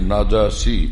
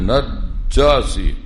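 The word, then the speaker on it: النجاشي: ওখানে গেলে তখন বাদশাহ ছিলেন নাজাসি, লোকেরা বলে নাজাসি, এটা ভুল উচ্চারণ, নাজাসি।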